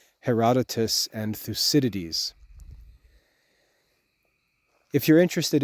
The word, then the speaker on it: Herodotus: most famous Greek historians Herodotus his name is spelled like hero dotas he wrote the history